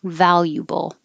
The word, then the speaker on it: valuable: Valuable, or the ya can be said more correctly with a u. Valuable.